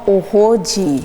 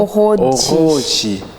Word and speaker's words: Oroodji: C'est pas du français, on ne dit pas oroji, ça c'est français. Oro, on roule avec la langue.